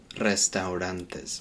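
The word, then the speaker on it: restaurantes: muchos restantes muchos restantes again with this one it's very similar Toto in the Au we pronounce those separately restantes whereas in English we kind of put all that together or a lot of British English speakers just kind of get rid of it all together restaurants but restantes make sure you pronounce all of that word now it's probably the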